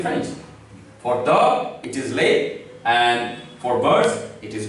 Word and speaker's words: les: So by now you have learned that the last consonant is mute. So you will write it but you will not pronounce it. So you will read as lay, which means the, article the.